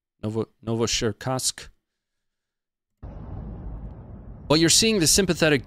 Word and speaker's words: Novocherkassk: I did look up how to pronounce it. Novocherkassk. Novocherkassk.